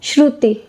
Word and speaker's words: Shruti: Pronunciation is Shruti or Shruti? Shruti.